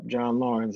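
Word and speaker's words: John Laurens: on the show you played Alexander Hamilton and John Lauren's is that the correct pronunciation yeah John Lauren's yeah so I checked it out man Disney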